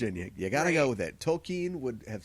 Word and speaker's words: Tolkien: Lord of the Rings and Tolkien's world tokine's tokine Tolkien how do you say it I always